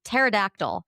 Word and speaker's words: pterodactyl: Or this word predatory pterodactyl. Pterodactyl is just a real fun word to have to say on a podcast. It starts with a P. You don't hear it.